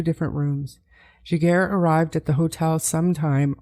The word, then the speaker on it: Giguère: He was Giguère.